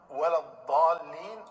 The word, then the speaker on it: ولا الضالين: سنیں آپ۔ لا هي القراءة الصحيحة ولا الضالين بالضاد. بالضاد، وَلَضَّالِّينَ بالضاد۔ ضالین کا معنی ہوتا